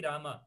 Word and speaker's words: rama: but the point is we want to pronounce it correct it is actually rama and believe me it's